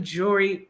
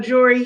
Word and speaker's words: Jory: I'm So just like it looks like it sounds. That's what it is. exactly. It's not that hard. Well, we got Jory here, based out in